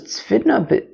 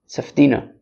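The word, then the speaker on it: צפדינא: I thought it was tzfidna, b'tzafdina. I guess that's how to say it. Tzafdina.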